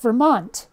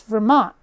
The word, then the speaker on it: Vermont: my Vermont accent simple the letter T does not get pronounced unless of course it's at the start of a word for example it's not Vermont it's Vermont Vermont like there's an apostrophe at the end the capital isn't Montpelier